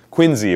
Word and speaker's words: Quincy: he John Quincy Adams Quincy by the way not Quincy if you live if ever live in Massachusetts you will discover that that name is pronounced Quincy I lived on Quincy Street so I I learned it well but who was Secretary